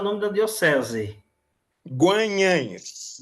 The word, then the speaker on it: Guanhães: Eu ainda hoje me bato para pronunciar o nome da Diocese. Guanhães. Guanhães.